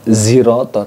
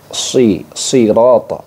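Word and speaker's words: صِرَاطَ: Bukan zirata tapi sirata, sirata. Nah, seperti itu. Jadi harus dibedakan bunyinya.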